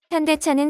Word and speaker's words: 현대: 댓글이 달리며 인기몰이 중입니다 해외에서 아직까지도 현다이 로 불리는 현대자동차는 제대로 된 명칭을 정정 하느라 에 를 먹어 왔는데요 bts 의 펜더 미나미가 아이오닉 cf 시리즈를 보고 현대 라고 발음을 교정 하며 고질적 이 어떤 현